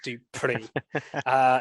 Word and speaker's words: Dupree: Sorry, yes, that's how you say it, Dupree.